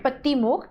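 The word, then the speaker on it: Pāṭimokkha: पाली भाषा में इसको कहा जाता है पतिमुख। क्योंकि यहां पे र साइलेंट होता है।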